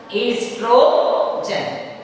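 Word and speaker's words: oestrogen: Estrogen. Estrogen, sometimes the spelling is O-E-S-T-R-O, same, you can pronounce estrogen, that is in female.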